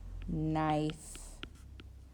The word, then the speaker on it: knife: All of these ones have the silent letter at the beginning of the word, and the digraph makes the n sound. We don't say, like, remember we talked about in class, cano, like we don't make the K sound.